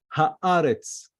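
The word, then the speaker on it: הארץ: Then tzadeh, haaretz. You see how we pronounce it? Haaretz. Ha is a kametz a, aleph a, and then this is a segol, which is a short a, haaretz, haaretz. Anyway, so let me continue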